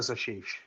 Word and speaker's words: Ashish: So, am I pronouncing your name correctly, Ashish? Yeah, that's correct. Uh Ashish, you got that right.